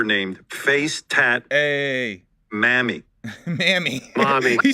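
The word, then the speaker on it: Mami: Mommy, but it's spelled M-A-M-I. Mammy.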